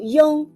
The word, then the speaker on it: yong: let's learn the final Yong when you pronounce the final Yong make the e sound then quickly slide to the on Yong when Yong becomes a